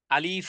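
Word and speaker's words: ألف: অক্ষরটি সেটি হল আলিফ আলিফ উচ্চারণ করতে দুই ঠোঁট একত্রিত যেন না হয় যেন কোন রকমের টানও না হয় আলিফ যেন না বলি আলিফ যেন না বলি মুখের ভিতরের খালি জায়গা থেকে এই অক্ষরটি উচ্চারণ হয় তবে এই অক্ষরটি অনেক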